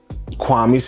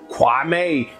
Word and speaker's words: Kwame: He doesn't even call him Kwame. He calls him Kwame, which is not his name.